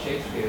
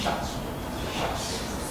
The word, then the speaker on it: Shakespeare: And even the spelling of Shakespeare, when he would sign as, it's not very carefully, but it was not actually pronounced as Shakespeare, it was pronounced as Shucks.